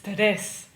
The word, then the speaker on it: tres: It's tres. Remember, the R in Spanish is like a D sound. That's why we can get away with that.